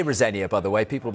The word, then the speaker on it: Rosenior: Liam Rosenia, I say Rosenia, by the way, people will be throwing things at the screen.